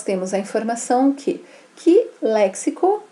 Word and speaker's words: léxico: exemplo né léxico então esse cs significa o quê que o x é pronunciado dessa forma uma informação fonética porque um x a nossa língua tem várias pronúncias né e aqui ele me traz a nossa correta do termo léxico para evitar que a pessoa